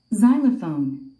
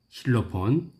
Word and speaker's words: Xylophone: 여러분들이 첫 번째 들을 단어는 Xylophone. Xylophone. xylophone, 그러죠? Xylophone. Xylophone. 자일라폰. 이걸 우리 한국인들은 실로폰이라고 합니다. 실로폰. 스트레스가 맨 앞에 있군요.